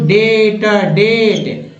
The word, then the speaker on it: debt: अब देखिए डेप्ट पढ़ दिए, क्या पढ़ेंगे इसको, डेट, न कि डेप्ट नहीं पढ़ना है, डेप्ट नहीं पढ़ना है, अगर डेप्ट पढ़ देंगे तो गलत हो जाएगा।